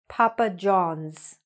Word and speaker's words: Papa John's: Or Papa John's. Papa John's, okay? Make sure you're saying the S.